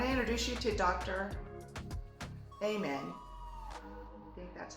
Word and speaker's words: Amen: level I want to introduce you to Dr amen that's how you say it Okay so here's